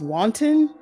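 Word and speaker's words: Kwanten: it up to Ryan I think it's wanton um the K is silent yeah who played West with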